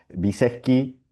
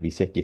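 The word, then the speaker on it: Wyszecki: Viseski, así es más o menos se pronuncia, ¿no?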